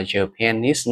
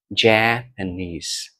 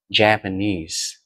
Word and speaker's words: Japanese: mà thêm nuôi is vào thì mình không đọc là japanes nữa trong chính sẽ rơi vào n chong âm phụ sẽ rơi vào cách âm tiết N đó một âm tiết là ja Japanese Japanese Japanese She is a Japanese It's a Japanese